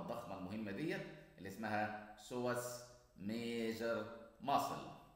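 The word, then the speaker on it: psoas: هنبدأ في العضلات اللي ديرايف فروم أبدومين أند بيلفس، وأولهم العضلة الضخمة المهمة ديت اللي اسمها سواس ميجر ماسل. البي ما بتتنطقش، سواس ميجر ماسل.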